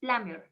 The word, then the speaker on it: plumber: to be a plumber the pronunciation is plummer not lumber plumber okay thank you